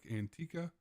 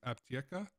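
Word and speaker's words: Аптека: of us North Americans looks like Antica, but I have been corrected that it is pronounced Aptieca, and this is considered pharmacy number 1 for this task.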